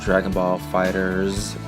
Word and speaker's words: Dragon Ball FighterZ: characters for a fighter Dragon Ball Fighter Z and yes I have received some comments sharing that it's actually pronounced Dragon Ball fighters but I'm choosing to